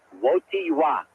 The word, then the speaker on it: Wojtyła: It's Wojtyła. Wojtyła. The accent is on the T.